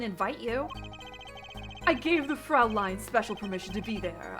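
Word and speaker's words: Fräulein: What do you mean the Americanized pronunciation? Fraulein is how you say that.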